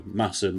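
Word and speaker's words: Masham: Both of them are made out of Massum in North Yorkshire. Um spelled Mashim, but I'm always told that's not how you pronounce it. So Massen will be will be for the rest of this video.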